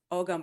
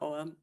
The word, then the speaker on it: Ogham: And then when people started dating these, they realized, oh, Ogam, or Oam, however you would pronounce it, it's both acceptable, was based on the Roman alphabet.